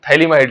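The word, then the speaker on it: phthalimide: अंग्रेजी में स्पेलिंग क्या होता है, इसमें PH से होता है बेटे शुरू, है ना, थैलीमाइड, PH लिख करके उसको थैलीमाइड, ये PH साइलेंट है इसमें, है ना।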